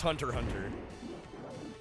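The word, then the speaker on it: Hunter × Hunter: The X and Hunter X. Hunter is silent. It's Hunter Hunter. It's Hunter multiplied with Hunter.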